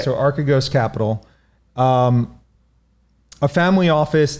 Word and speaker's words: Archegos: event recently of um i believe the pronunciation is archigos capital yes that's right so arcagos capital um a family